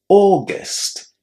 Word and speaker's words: August: August. August. You pronounce that second syllable in exactly the same way as the word guest in English.